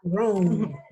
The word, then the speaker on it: Rome: Rome. Ajá. Rome. La E. Yo pronuncio hasta acá.